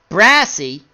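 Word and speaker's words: Braase: Ordell Brass, how do we say his name again? Brassy.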